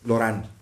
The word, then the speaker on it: Lauren: El gordo se escribe Lauren. Lorán.